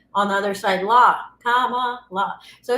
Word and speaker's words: Kamala: It's like a comma, and then la, like la, la, la.